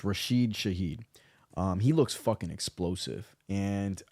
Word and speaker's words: Rashid Shaheed: So it's Rashid Shaheed.